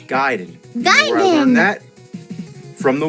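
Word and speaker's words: Gaiden: we're talking ninja giden everyone always said Ninja gayen but I know for a fact it's giden I learn that from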